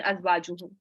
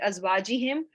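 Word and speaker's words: أزواجهم: Yes, so there's a correction, azwajuhum. Yes, Sister Sabra is telling me that, it is not as I said it azwajihim. It was azwajuhum.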